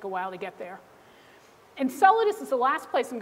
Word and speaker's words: Enceladus: going to take a while to get there ins solidus is the last place I'm going to bring you um in the solar system this is pronounced Enceladus not enchilada I've heard it about pronounced both ways um